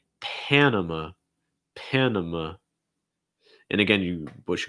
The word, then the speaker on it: Panama: about okay pan and so it's not pon okay it's more pan hey what's up people